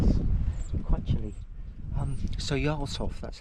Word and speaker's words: Jarlshof: Um, so Yov, that's how it's pronounced.